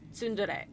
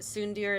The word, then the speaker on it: tsundere: Except, I guess it's pronounced Yandere and Tsundere. Tsundere, right? I don't know. I've only read the words. I've never said them out loud. But right? Yandere and... I don't know if the word originates in Japanese or not. In my mind, I've always pronounced it Tsundir and Yandir, but I'm sure that's not right.